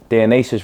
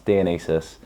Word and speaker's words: Dionysus: So, Dionus Records spelled Dionus, but it's not. It's Dianis.